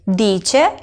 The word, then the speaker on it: dice: Lui, lei dice. Lo mismo, la C y la E hacen el sonido C.